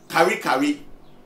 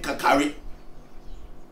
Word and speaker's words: Kari Kari: Let's take, for example, there's a name, Kari Kari. They couldn't pronounce it, so now they've made the name Kakari. But the original name is Kari Kari.